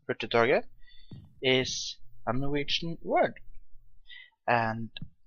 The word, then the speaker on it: Hurtigtoget: from norway and my name is which is pronounced pretty target is a norwegian word and then the obvious